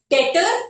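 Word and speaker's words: debt: guarantor जिसे कहते हैं डेटर और creditor P ई बी टी जिसे लोग डेप्थ भी कहते हैं but this is नॉट डेप्ट actually this is how this is pronouns S डे तो डेप्ट से डेटर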